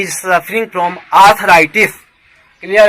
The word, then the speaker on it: arthritis: Next word आर्थराइटिस, ARTHRITIS, correct pronunciation is आर्थराइटिस। बहुत लोग अर्थराइटिस पढ़ते हैं, जो गलत है, यह ब्रिटिश रिसीव्ड प्रोनाउंसिएशन है, ठीक है।